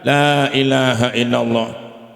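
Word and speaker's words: لا إله إلا الله: minimal tiga kali pertama supaya laanya itu dipanjangkan Pak Lailahaillallah nabi bersabda lailahaillallah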